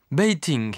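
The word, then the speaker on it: Beijing: Grande Muraille bord de Pékin bting dans la prononciation chinoise ce qui signifie capitale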